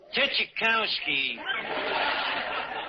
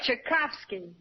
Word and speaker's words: Tchaikovsky: Tchaikovsky, and Debussy, Puccini, Bach, Tchaikovsky. Archie, that's Tchaikovsky. So I mispronounced one of them.